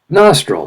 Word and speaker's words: nostril: correct check it out nostril second syllable embarrassing third syllable professor